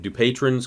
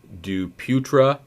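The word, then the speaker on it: Dupuytren's: depends on how you pronounce this most people pronounce it do patrons contracture i believe it's actually pronounced duputra so it's french duputero's contracture it's a flexion deformity of the fourth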